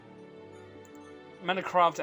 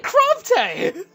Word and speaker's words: Manakravte: Manakravte. How do you say this? Manakravte. Oh, it's craft. It's craft. I've been saying crafte. No! I'm gonna leave the internet forever! So it's manakravte.